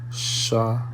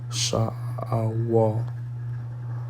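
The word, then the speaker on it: שְׁאוֹל: So it's Strong's H7585, and in the Hebrew the word is SHAAHWAL. SHAAHWAL.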